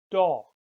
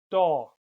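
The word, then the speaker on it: Daag: makes the sound all a bit like the English word vault all a good example is the Dutch word doll doll that means day all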